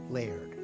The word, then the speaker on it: Laird: Yeah, one syllable, Laird.